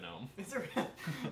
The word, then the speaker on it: GNOME: not doing architect yeah it's actually pronounced gnome no to the moon because it's the gnome is part of new like good news linux